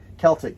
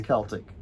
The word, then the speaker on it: Celtic: that i i know i'm being yelled at celtic it's i know but it's pronounced with the it's a hard see oh yeah it's celtic so i thought this one was really cute